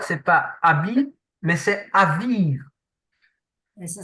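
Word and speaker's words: אביב: Le mot qui est utilisé, en fait, c'est pas habile, mais c'est aviv. Et ça s'écrit comment alors?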